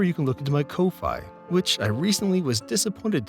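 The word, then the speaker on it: Ko-fi: channel further remember you can look into my Kofi which I recently was disappointed to learn it's actually pronounced Kofi but as I hate that I will continue to call it Kofi where you can sign up for a membership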